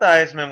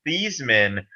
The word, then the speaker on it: Theismann: director convinced him to change the pronunciation of his name from these men to what we know today as theisman so it would rhyme with heisman the new mr thiesman